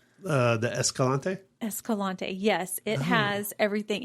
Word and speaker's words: Escalante: Escalante?